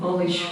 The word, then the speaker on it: knowledge: For example, not acknowledge, but knowledge, we do not pronounce K.